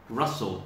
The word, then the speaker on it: rustle: in a paper bag russell has a silent t okay not rustle okay russell one more time it